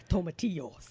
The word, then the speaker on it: tomatillo: Tomatillos. It's tomatillo. He always has to overpronounce things.